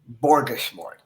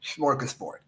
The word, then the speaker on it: smorgasbord: The way I pronounced it was borgasmord.